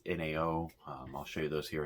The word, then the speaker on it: NAO: It's NAO. I'll show you those here in a minute. So these are the NAO headlights. It's spelled N-A-O, but I've seen that it's actually pronounced Zao or Zhao.